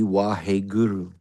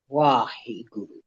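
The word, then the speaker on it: ਵਾਹਿਗੁਰੂ: It's a plosive where the two lips press together. So it's halfway between.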